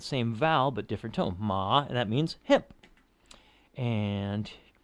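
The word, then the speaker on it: 马: Now the third tone, the dipper tone, as it were, ma, that's how you'd spell that one. And that means horse. Yeah, so I just aim down to the bottom of my vocal range and let it bounce up.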